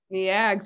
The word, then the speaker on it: Neag: Kearns, PhD, is an associate professor of special education in the Department of Educational Psychology in the, help me pronounce this school, NEAG. NEAG, thank you.